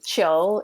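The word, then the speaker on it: 球: But it's probably inspired by, well, actually, Qiu is how you say ball in Mandarin.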